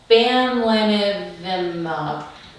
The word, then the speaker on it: bamlanivimab: So I will not be pronouncing this correctly, but it's called bamlanivimab.